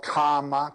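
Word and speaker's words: Kāma: as desire he was called karma k a m a long a first one that means lust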